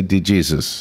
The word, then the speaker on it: DeJesus: I did ask him once, how do you pronounce your name? And he did say DeJesus. Yes, yeah. I've had calls telling me, it's DeJesus. Yeah. If the man tells me it's DeJesus, I'll pronounce it that way. That's right. I know. Most Hispanic peoples pronounce it Jesus.